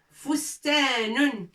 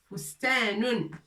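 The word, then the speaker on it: فُسْتَانٌ: Fustanun. Fustanun. Fa. Sin. Ta. Wa nun. Fous, ta, avec 2 points. Ta, nun. Fustanun. Les lettres sont un peu larges.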